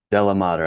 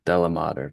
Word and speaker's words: DeLaMater: Dela Mater. I know the capital letters can get people confused but it's pretty Dela Mater. Pretty smooth.